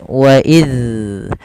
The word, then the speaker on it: إذ: Agar bacaan tersebut tidak memantul, maka ujung lidah kita tempelkan dengan gigi sari atas. Wa idz.